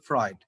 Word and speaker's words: Freud: দেখো, although he had broken with Freud, এটার উচ্চারণ হচ্ছে ফ্রয়েড, সিগমুন্ড ফ্রয়েডের কথা বলা হচ্ছে সম্ভবত।